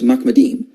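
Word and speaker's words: מחמדים: The way you pronounce this word is Mahmed. In this passage is plural, so it's Mahmedim.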